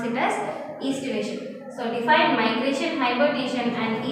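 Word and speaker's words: aestivation: So here A is silent, so estivation, we pronounce it as estivation.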